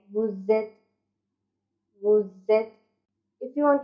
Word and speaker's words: vous êtes: And the tip is, when either verb is used with vous, then you have to pronounce z. Z. Like vous êtes.